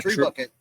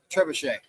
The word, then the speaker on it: trebuchet: Yeah, a tree bucket. What do they call that? Trebuchet. A trebuchet. Spelled like a tree bucket.